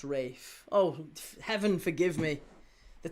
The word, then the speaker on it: Ralph: It's pronounced Rafe.